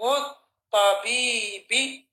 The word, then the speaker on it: الطبيب: واسم الطبيب مضاف ومضاف إليه وهمزة الوصل. You don't pronounce the alif in the middle of a sentence. واسم الطبيب حرف شمسي. Don't pronounce the lam.